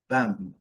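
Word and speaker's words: balm: aqui para uma combinação, essa combinação LM, ela nos indica que o L quase sempre não é pronunciado. Geralmente não vai ser pronunciado. E a letra M está aqui de azul para te dizer que ele tem que ser com a boca fechada.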